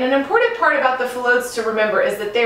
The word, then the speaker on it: phyllodes: And they're going to be found in pods, also called phyllodes. Everyone say that with me, phyllodes. Very good. And we spell that P-H-Y-L-L-O-D-E-S.